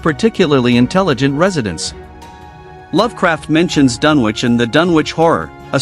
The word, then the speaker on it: Dunwich: name is pronounced as Dunwich, Lovecraft, being an avid Anglophile, often named towns in his work after English locations. In this case, Dunwich, located in Suffolk, England, is actually pronounced as Dunwich.